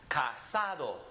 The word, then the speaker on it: casado: And this one ending with an O, the next to last, casado.